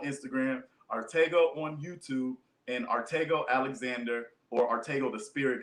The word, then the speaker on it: Arttacgo: get a review uh artego on Instagram my name is spelled right there a r t t a c g o um the C is silent it's a Henny name